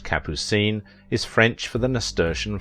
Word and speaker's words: Capucine: name kappucin during her modelling days the name pronounced capucine is french for the nasturtium flower but she